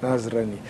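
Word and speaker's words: نصراني: Nazareno, mas como é que você pronunciou em árabe? Nasrani. Isso. Nasrani.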